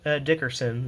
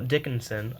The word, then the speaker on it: Dickinson: Now Harris Dix Dickerson. No, Dickinson. Oh, wow. I've been pronouncing that wrong.